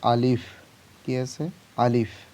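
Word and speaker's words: ألف: যেমন প্রথমে আছে আলিফ। কি আছে? আলিফ। দেখো শেষে উচ্চারণটা ফ এর মতন হবে।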